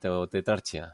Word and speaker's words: tetrarchia: dentro de España es tetrarquia o tetrarchia tetrarchia en latín como se pronuncia en latín pues está basado en